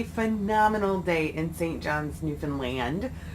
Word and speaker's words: Newfoundland: John's, Newfoundland. A lot of you may say Newfoundland, but I found out that's not the right way to say it.